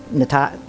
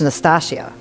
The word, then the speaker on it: Nastassja: I pronounce it as Natasha. Yeah, like I want to say Natasha, yeah, but Nastassja. But it's Nastassja.